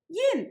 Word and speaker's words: 饮: Yin here pronounced in the fourth tone rather than the usual third tone, meaning to water a cattle or a horse.